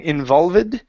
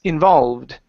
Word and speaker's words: involved: go to the word involved here this is an ed ending so instead of saying involved okay this e is silent it's involved involved good so yeah